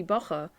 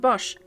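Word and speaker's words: boche: case it would be bacha like i don't know a slur a term for germans no it's pronounced bosch that's correct it comes from french okay my bad like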